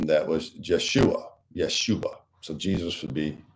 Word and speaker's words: Yeshua: in the Hebrew style Yeshua which means the Lord saves you think of Yahweh or Jehovah you have Joshua uh the J having the Y sound in the Hebrew uh Yeshua which for Christians is